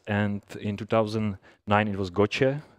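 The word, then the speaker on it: GOCE: in 2009 it was gotcha it's pronounced italian and all these methods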